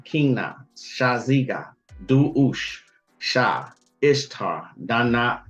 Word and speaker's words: Ishtar: Shaziga is how you pronounce that. And see, like right here is a perfect example. You don't say Istar, you say Ishtar.